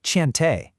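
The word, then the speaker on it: Cheontae: But then in contrast he gives us Tant Thai pronounced Chante.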